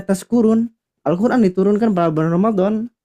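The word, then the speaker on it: تَشْكُرُونَ: Jadi tashkurun pakai sin biasa, Bapak Ibu sekalian. Mabuk. Iya, artinya jadi apa? Mabuk. Mabuk.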